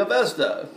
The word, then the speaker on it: Avesta: scriptures of called the Avesta. Well, that's how we probably pronounce it in America. They probably pronounce it Avesta, a long A.